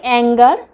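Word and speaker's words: anger: যেমন ধরুন আমরা বলি অ্যাঙ্গার, রাগ, তো জি এর পরে ই আছে, তাই তো। বা ফিঙ্গার, এটাতেও দেখুন জি এর পরে ই আছে, তবুও এগুলো কিন্তু গয়ের উচ্চারণটাই, গয়ের সাউন্ডটাই হচ্ছে। তো এগুলোর ক্ষেত্রে, এই ধরনের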